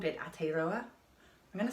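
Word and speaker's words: Aotearoa: when they first landed and they called it at a roller I'm gonna spell that because again pronunciation it bit ropey so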